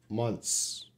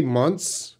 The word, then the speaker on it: months: in the emergency situation don't try to pronounce the th sound months so if you say months everyone if you said three months everyone's can understand you because the th is so reduced so quiet that it's not so important to